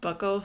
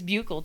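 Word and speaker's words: buccal: of the week is on peridot's post about Buckle fat removal I thought it was pronounced Buco but it's Buckle I thought it was bugle no I I watched a few videos on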